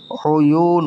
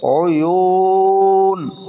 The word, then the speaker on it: عيون: এখানে ওয়াও মদের হরফ, তারপরের হরফে অক্ফ হওয়ার কারণে 3 আলিফ টান হবে। কয় আলিফ টান হবে? 3 আলিফ টান হবে। তাহলে উচ্চারণটা হবে উয়ুন উয়ুন, বারবার উচ্চারণ করেন এটা, উয়ুন।